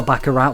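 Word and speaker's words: Baccarat: Neo Bakarat was the final game in the Pocket Casino series.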